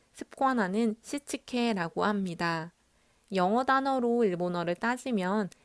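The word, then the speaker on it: 躾: 5S는 일본어로 정리, 정돈, 청소, 청결, 습관화를 발음했을 때 정리는 세이리, 정돈은 세이톤, 청소는 세이소, 청결은 세이케츠, 습관화는 시치케라고 합니다. 영어 단어로 일본어를 따지면 S로 시작하는 발음이라 5S라고 검색하니 네이버에서 이렇게 나왔는데요.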